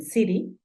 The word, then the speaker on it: city: ciudad la palabra ciudad se escribe City a veces la pronuncia Siri por todo lo que te cuento de la t esto lo vamos a